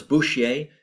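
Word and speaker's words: Bourchier: Uh Thomas Bushier. Uh I'll spell that for you.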